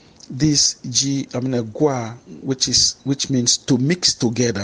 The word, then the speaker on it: gua: G-U-A. G-U-A. In this case, we have also the dot under the U, but the stress mark is rising from left to right.